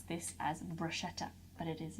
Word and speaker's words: bruschetta: It's Bruschetta, not Bruschetta. It is pronounced bruschetta. A lot of the time, most people pronounce, in the UK especially, people do pronounce this as bruschetta, but it is not